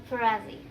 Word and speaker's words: Ferrazzi: Harv Eker, Kate Ferrazzi, let's pronounce it Ferrazzi, okay?